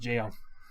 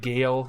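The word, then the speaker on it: gaol: says goal or gowell it's pronounced jail yeah so gal yeah i thought it was like gale or something but it's like jail so oh yeah it's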